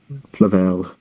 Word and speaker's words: Flavel: that was written by John Flavel or Flav or Flavel how it's pronounced Flavel that just sounds better all right so I